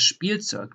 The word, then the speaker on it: Spielzeug: So that is in German a sh, p. So you pronounce like a SCH and then a P in addition. For example, you have das Spielzeug, the toy.